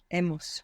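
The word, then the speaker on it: hemos: good so we have Emos good how do you spell e h e h e good and that H comes from Abel that silent h that you have there good so how would you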